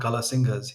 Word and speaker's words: Kala Singh: And so when they asked him, and he said, "My name is Kala Singh," and they couldn't quite pronounce his name, so they called him Kala Singha.